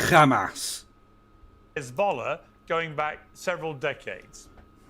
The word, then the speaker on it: Hamas: For the record, that Iran has sponsored terrorism through Hamas, the Houthis, and It's pronounced Hamas.